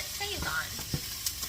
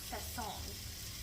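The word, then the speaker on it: Sazón: me that seasoning, and she's always called it Sazon. And I was talking to somebody that really likes to cook one time, and he was like, it's actually, he's Hispanic, and he was like, it's actually pronounced Sazon.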